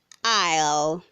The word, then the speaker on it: aisle: Word 213 says aisle, say aisle, not aisle. The S is silent.